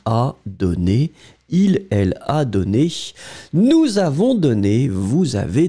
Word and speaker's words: donné: In fact, you pronounce them exactly the same way.